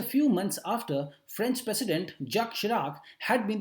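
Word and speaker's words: Jacques Chirac: Just a few months after French president, यहां पर अब इनको कैसे पढ़ेंगे, जैक्विस नहीं पढ़ेंगे, चिराग नहीं पढ़ेंगे, इनको पढ़ेंगे जक इसको पढ़ते हैं जक शिराक इसका प्रोनाउंसिएशन होगा. ठीक है ना, ये बहुत ही इंपॉर्टेंट प्रेसिडेंट रहे हैं फ्रांस के.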